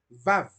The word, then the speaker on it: Vav: que desciende del hebreo es la letra Vau o Vav, que es una letra que se pronuncia mordiendo los labios, Vav, Vav.